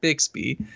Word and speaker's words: Bixby: I don't want to trigger anybody with the way I say it, but I pronounce it Bixby.